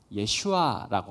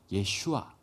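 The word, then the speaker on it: ישוע: 예슈아라고 하는 겁니다. 예수, 예슈아. 이거 짧게 이야기하면 예슈아고요. 이걸 좀 길게 발음을 하면 여호수아가 되는 겁니다. 여호수아라는 사람의 이름에 대해서는 여러분들이 들어보신 적이 있죠.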